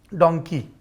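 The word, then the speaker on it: Dunki: हुई फिल्म डंकी का इंतजार कर रहा हूं डोंकी सही उच्चारण उसका डोंकी है डोंकी नहीं और उसमें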